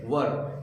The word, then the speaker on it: were: वोज, WAS, वाज नहीं वोज, एंड WERE, वेयर नहीं वर।